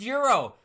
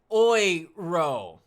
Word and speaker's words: euro: Daniel Watson says, "Hey dude, euro is pronounced euro. Just saying my man from a guy across the pond, but you got to remember so I'm German. in in Deutsland we say Oiro love it anyways Bitcoin